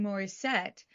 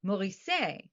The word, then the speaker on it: Mauricet: He's a French-speaking Belgian, and I don't know. I kept saying Mauricet, and it's Mauricet.